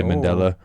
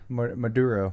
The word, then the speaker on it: Maduro: Uh say Mandela. Maduro. There we said it earlier. Yeah. Maduro. Nicholas Maduro. So, what if Nicholas Maduro had like an Epstein's Island list, but it was like all the drugs?